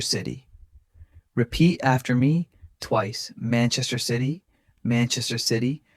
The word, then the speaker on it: Manchester City: Manchester City. Manchester City. Remember stress man and sigh. Other syllables light and quick.